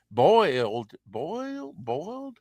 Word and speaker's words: Boyd: Model photographer Patty Boyd, Boiled, Boyd, Bold, Bold. How do you say that? Bold, Be Boy, Can boy you with spell a it again? D on the end. Boyd. Boyd, Sounds right.